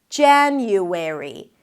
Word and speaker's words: January: You start with a J sound, J, then it's the A as in cat, ja, an N sound, and the Y. Jan-you, transition to an U sound, and then airy. An E sound, an R, and an E. Airy. January. January. Primary stress is on the first syllable.